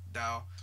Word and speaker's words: Tao: Taoism right you know the ta o Dao that's how you pronounce it I don't know why